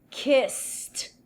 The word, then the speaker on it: kissed: Esse ed vai ter um som de T. Tá vendo que eu coloquei um T aqui? Então, kiss. Repeat. Kiss. Kissed. Kissed. Don't say kissed. No. Kissed. Vamos considerar que esse E aqui não tem som e o D tem som de T, ok?